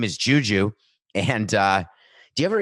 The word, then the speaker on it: JuJu: name is it is i was gonna say it's juju but that seems not nice how to say the name but that's how to say it okay his name is juju and uh do you